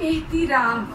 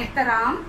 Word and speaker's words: एहतिराम: इसी तरह एहतिराम, और इसको हम पढ़ते हैं एहतराम, और लफ्ज़ दुरुस्त क्या है एहतिराम।